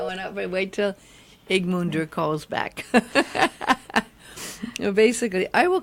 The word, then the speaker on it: Ögmundur: But you pronounce my first name pretty well. Usually, my first name is pretty tough to. Well, it looks like Ogmundur.